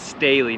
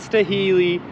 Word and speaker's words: Staheli: Yes, Staley, not Staheli, not Staley, not Staheli, Staley.